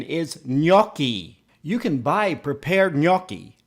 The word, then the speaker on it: gnocchi: potatoes while the spelling seems strange the correct pronunciation is not no ki I've heard professional chefs pronounce it no key it's not pronounced no key the pronunciation is no key you can buy prepared gnocchi this brand claims